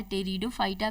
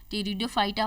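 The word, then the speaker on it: Pteridophyta: टेरिडोफाइटा का pronunciation टेरिडोफाइटा होता है और लिखा पी से होता है।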